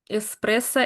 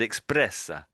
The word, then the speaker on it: espresso: And when you were saying espresso, you said, you said you said expressa.